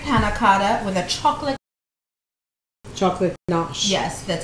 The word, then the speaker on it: ganache: And then we're going to get ready to make our strawberry panna cotta with a chocolate ganache.